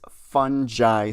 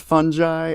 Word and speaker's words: fungi: Rotos Flor's dad says that they've been infected by these fungi spores. He says fungi. I always say fungi, but everyone says it differently here, which is just like great.